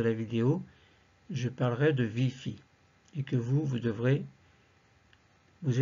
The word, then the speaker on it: ViPHi: vidéo, je parlerai de VIPHI, et que vous devrez vous efforcer de mettre les vôtres, sachant que je prononce moi le VI et le FI.